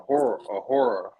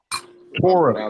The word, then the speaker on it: Torah: I think you said you had a horror. Torah. It's called a Torah. Torah. I mispronounced Torah.